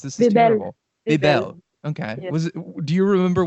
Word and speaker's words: Bebel: I'm so bad at pronouncing names. This is terrible. Bebel.